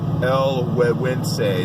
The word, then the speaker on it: El Gueguense: El Gueguense, that's how you pronounce it.